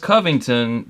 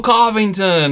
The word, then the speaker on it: Covington: I was like, hey, just letting you know, it's pronounced Covington. Just so you don't, I don't want you to go up there on stage and be like, hello Covington, and everyone be like, huh?